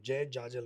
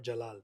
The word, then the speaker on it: Jajal: That's how you say my name. Jay Jajal, not Jalal.